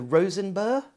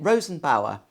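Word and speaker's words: Rosenbauer: Loosely based on the I can never pronounce this the Rosenberg the Rosen bow Rosenberg Ro no it's not got a g in it Rosen Bower Panther 6x6 fire crash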